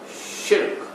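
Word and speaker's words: شرك: The pronunciation of the word is shirk, which is one syllable. Don't make it two.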